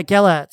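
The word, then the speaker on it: Gelet: that term and and calls him is it gellet yeah gallet that's how I pronounce it yeah you're right Elizabeth there is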